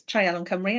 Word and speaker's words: Treialon Cymru: So it is Treialon Cymru, and I'll come back to that in a minute.